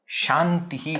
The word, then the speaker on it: Shantihi: So the moment it has become half na, it should be pronounced as na. There is no variation. You can't say there are two options, Shantihi, Shantihi. No, there are not two options. The options exist for Anusvara. Where the Anusvara has already become Anunasika, there is no option.